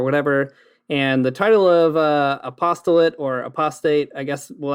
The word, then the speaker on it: Apost(le)ate: I pronounce it apostolate. So yeah, it's sort of a mashup of the word apostate and apostle, as listeners may have already guessed.